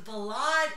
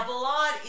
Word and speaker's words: ballade: And now Ballade is the equivalent of a ballad in English. It's the French pronunciation.